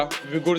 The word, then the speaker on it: Uighur: वैसे तो विगुर की स्पेलिंग यू से स्टार्ट होती है, लेकिन इसे बोला विगुर जाता है।